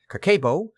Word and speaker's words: Kakeibo: Kakeibo, pronounced Kakeibo, translates as household financial